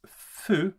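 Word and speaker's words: ふ: translate it is as fu but it is pronounced in a way more in the middle between who and foo you might say so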